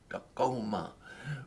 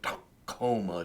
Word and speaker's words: Tacoma: in the upper palate, Tacoma. But with deep guttural K, Tacoma, down way down deep.